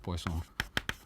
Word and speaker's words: Poisson: variable X is called Poison oh not poison like like we do it in it's a French name it's o n right so that's why you call it poisson uh Lambda so this